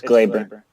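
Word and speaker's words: Gleyber: name he kinda has a funky name its Glaber cuz he says because his told mine call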